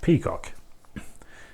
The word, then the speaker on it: PCOC: But anyway, the abbreviation PCOC, just pronouncing it in English, we have peacock.